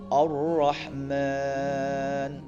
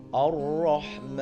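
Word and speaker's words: الرحمن: Contoh, jadi bacanya agak, kalau tafkhim Ar-Rahman, Ar-Rahman, 'Allamal Qur'an, Khalaqal Insan. Nah, Ar-Rahman, Ar-Rah, gitu kan.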